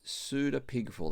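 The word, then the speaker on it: pseudepigraph: And so Jude also is unusual because he quotes from what we call a pseuda pigraph. That's a silent p in front of that pseuda pigraph book first Enoch which up until about the 2n century BC was was passed down orally.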